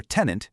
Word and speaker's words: tenant: Or tenant, you know, someone renting an apartment, the stress is on the first syllable. Tenant.